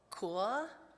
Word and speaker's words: cœur: The French word for heart is, and I'm going to pronounce it wrong, cœur. Somebody say in French the word cœur.